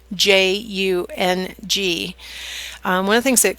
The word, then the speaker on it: Jung: If you're interested in Carl Jung, it's spelled Jung.